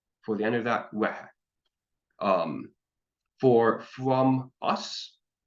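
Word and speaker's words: uaithi: From her, wehe. The TH here in Irish is always an H sound. So you have the we for UAI, and then he for the end of that, wehe.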